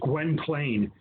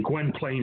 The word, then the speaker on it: Gwynplaine: And in it, he plays a character known as Gwynplaine, or Gwen Plain. You can pronounce it either way. Gwen Plain is usually how it's pronounced.